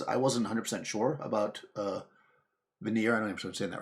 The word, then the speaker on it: Vanir: In Norse mythology, the Vanir, actually tells you how to spell it. Yeah, that's how you say it. Vanir, yeah. Singular Vanir.